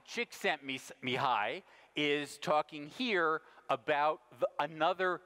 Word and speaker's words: Csikszentmihalyi: I once asked him how you pronounce his name and he said call me Mike me hi csikszentmihalyi is talking here about